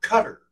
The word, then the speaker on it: Qatar: that may be wondering Y is it Qatar or Cutter because it's spelled like tar in English well it turns out in in Arabic it's with t and so it would be in the throat cut which sounds like cutter like right like I